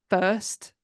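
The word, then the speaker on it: Fuerst: when he met Ruth first I'm again sorry if I've mispronounced that f u e r St T so it's like first but first a and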